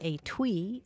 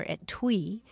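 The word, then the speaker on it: etui: sure to come across the word a tweet or at twe it's spelled e Tui and it means a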